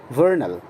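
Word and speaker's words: vernal: आप ध्यान रखें वी लेटर का साउंड हमेशा व हुआ करता है, भ नहीं। भ साउंड इंग्लिश में होता ही नहीं है। वर्नल, सन, सोलर, स्टार, स्टारी,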